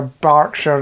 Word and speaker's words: Berkshire: Back in 1977, so go even further back in time, Southern Telly, you know that lot down in Hampshire, Berkshire and the likes.